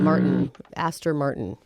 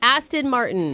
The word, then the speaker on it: Aston Martin: James Bond drive in most of his movies Martin Aster Martin is that how you say it that's an